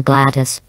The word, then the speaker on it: GLaDOS: not what i meant they normally pronounce it as a gladys to which i don't understand that either the scientists of course